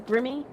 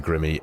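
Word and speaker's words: Grimme: And this is the Grimmy. Yes. I think that's how people pronounce it. Grim. Yeah, I think it is. It's not grime, is it? It's Grimmy. No.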